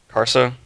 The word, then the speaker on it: Karsa: being Karsa because I say his name right kharsa yes Karsa is a garbage human being he